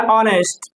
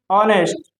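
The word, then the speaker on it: honest: इसे मान लीजिए कहा जाए एन ऑनेस्ट, एन ऑनेस्ट। अब यहाँ पे क्या है, भले यहाँ पे एच दिया हुआ है लेकिन इसका प्रोनाउंसिएशन हम आ से करते हैं और आ से आने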